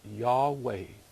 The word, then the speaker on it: Yahweh: into English as Jehovah Jehovah is a misspelling it was originally pronounced y'all way by his authority do